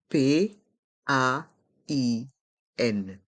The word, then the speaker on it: pain: hein allez on épelle P a i n par contre la prononciation est différente pain oui parce que les lettres A i n se prononce un et ça c'est à